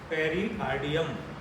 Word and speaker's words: pericardium: PUT पुट और CUT कट, पुट नहीं। PERICARDIUM, पेरिकार्डियम, हृदयावरण।